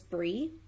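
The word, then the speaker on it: Bri: So I did that, of course, got a response, and I was in touch with, her name is Bree. I think that's how she would pronounce it, B-R-I, Bree.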